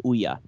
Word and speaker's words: OUYA: Not And not to be the prophet on all things gaming, but I believe the pronunciation is Ouya.